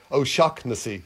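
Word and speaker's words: O'Shaughnessy: one it's pronounced it's pronounced nothing like the way it's spelled you know so it's oh shock oh shocknessy you know stop it so it's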